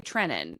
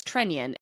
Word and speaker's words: Trenin: I I've told you I that's why I've continued to say Trenin because that's what I thought. But you're right. Our friend Joe O'Donnell says Trenion. Anthony Leantis said he told us it was Trenion.